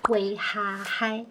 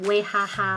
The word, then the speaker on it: 威哈嗨: 歌叫做《威哈嗨》，千万不要念成威哈哈哦。